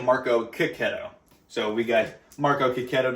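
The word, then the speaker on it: Marco Checchetto: his last name because we've been calling him Marco Cicchetto for the longest time, and he was like, "Nah, it's actually Marco Cicchetto."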